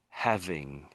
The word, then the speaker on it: having: He So, I'm doing sort of a breathing sound at the front. That's what I'm doing. E. He. It's sort of a heavy breathing, the Hes. Um, and this is having having.